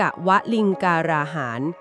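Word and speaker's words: กวฬีการาหาร: 4 ประเภท คือ 1 กวลีกาหาร อ่าน ว่า กวลิงกาหาร คือ อาหาร คือ คำ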